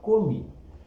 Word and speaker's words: commis: Se escreve commis e se fala commis.